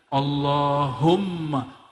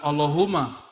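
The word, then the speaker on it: اللَّهُمَّ: situ ada mimnya Allahumma Gimana cara baca anyya Allahumma bukan Allahuma allahum dia mesti ditasdidkan Allahumma ya dan dia harus men idgham ya ada rahasia di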